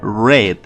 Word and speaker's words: read: un verbo interesante porque no cambia de forma escrita pero si de pronunciación en infinitivo y en presente y en futuro se le read pero en pasado se lee red como el color rojo entonces eso lo podemos